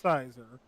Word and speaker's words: Scyther: I'm no Poke nerd, Scyther in the Pokemon series? I think first off it's pronounced Sizer, Okay.